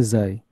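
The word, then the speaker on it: ξ: Tentukanlah ekspresi persamaan displacement wave, jadi menggunakan, itu kalau tulisannya C, kalau di Greek letter, tapi saya baru search tadi, pengucapannya Xi.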